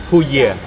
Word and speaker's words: Puglia: Enough how do you pronounce it Puglia Puglia okay Puglia Puglia Puglia ต อ น นี้ เ นี่